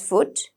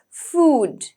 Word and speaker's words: food: da so it's food usually we pronounce it as foot right but I'd like you to get used to the proper pronunciation and I'd like you to practice it as food okay next one we